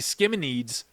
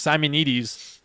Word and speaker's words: Simonides: So he called me Skimminides. And by the way, like my last name's Simonides. So he's completely off. Like, there was no K.